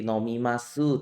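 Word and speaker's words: 飲みます: adalah kalimat formal kemudian akhiran u pada su itu tidak dibaca teman-teman jadi seperti nomimasu tulisnya Tapi bacanya nomimas jadi u akhiran pada hiragana seperti desu itu tidak dibaca unya Jadi dibacanya itu Des Ya jadi kalau kita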